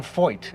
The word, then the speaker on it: Feucht: Is that how we pronounce the family name? Yes, that is correct. We were debating how. I have a friend, by the way, who's Feucht. I think it's the German original pronunciation.